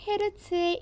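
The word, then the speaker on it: Hz: 이 진동수의 단위는 과학자 헤르츠의 이름을 따서 H 대문자 그리고 Z의 소문자로 쓰고 그리고 헤르츠라고 읽습니다.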